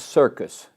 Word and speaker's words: Cirkes: His name was Vincent Circus, not spelled like circus show, but Cirkes. Polish background.